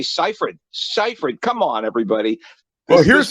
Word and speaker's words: Seyfried: Did they not give them a pronunciation guide to say Seyfried? Seyfried.